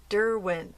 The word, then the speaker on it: Derwent: pencils by Dent Dent Derwent d i I know I say it wrong CU I'm an American I use the American pronunciation Derwent Derwent I don't know it sounds all the same to me either way